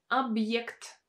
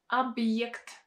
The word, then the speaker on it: объект: Next word is объект, объект, объект. In this case, we have a vowel Е, and it's pronounced as a combination of Y and E.